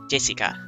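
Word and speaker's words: 朱志香: same kind of weird name anyway that is pronounced Jessica G's dad's older brother's daughter that older brother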